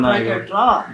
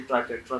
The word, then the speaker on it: Triquetra: और ये सीखने वाला ये क्यों बनाएगा यहाँ पर ट्राइकेट्रा? ये क्यों बनाएगा? खाला इल्म का बदतरीन साइन है। मैं आपको स्पेलिंग बताता हूँ जी, TRIQUETRA।